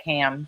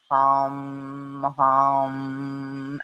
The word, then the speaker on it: ham: because it smelled like ham but it's not said that way it has the arm as well so it's mom and I've also heard